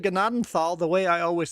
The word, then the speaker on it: Gnadenthal: oh almost he said gnadenthal the way I always spell it with sound it out it's gnadenthal you you don't pronounce the th as a Thal G